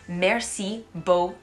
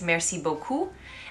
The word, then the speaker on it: merci beaucoup: kept saying to people merci beau so when you say thank you very much in french it's merci beaucoup and when you say merci beau cu you come across as